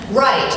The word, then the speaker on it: right: Right, R-I-G-H-T. That's how it's spelled, and it's pronounced right. Smiley face. In LA, somehow it becomes right? I know, right? What happened to that final T? You don't just get to drop the final letter.